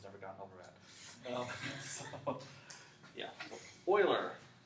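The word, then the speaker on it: Euler: do a check here how is this name to be pronounced Oiler Oiler not uler that is like fingernails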